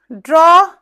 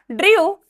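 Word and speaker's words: draw: ड्रॉ बोलते हैं, ड्रॉ, ड्रू, drone and ड्रॉइंग, ठीक है। इसके भी प्रोनाउंसिएशन पे ध्यान रखिएगा, इसको बोलना है ड्रॉ, नॉट ड्रा, ठीक है, ड्रा नहीं बोलना है, क्या बोलना है?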